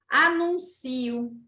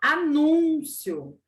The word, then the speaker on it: anúncio: então eu estou anunciando anuncio a diferença a outra palavra era anúncio Essa é Amancio olha sílaba tônica Onde foi parar anuncio na outra palavra